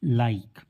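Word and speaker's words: like: उच्चारण नहीं करते क्योंकि लास्ट में आए हुए ई हमेशा साइलेंट होता है उसका कोई साउंड नहीं होगा एल आई के ई लाइक तो यहां पर इसे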